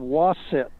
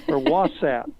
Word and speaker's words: Wasat: It's Delta Gemnorum, but for some reason it's called Wasset or Wasat. W-A-S-A-T.